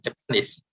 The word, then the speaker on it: Japanese: last one japanese and the last one is japanese so it it stress on it stresses on the last uh syllable here okay so um